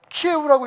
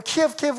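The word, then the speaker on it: 키이우: 중부 지역에 있는, 그래도 키예우라고 이름이 좀 바뀌었더라고요. 우리는 키예브 그랬는데 이제는 우크라이나 발음으로 한다 해서 키예우라고 부르는데, 그 키예우에 있는 사람들은 그나마 그래도 조금 그 여유가 있대요.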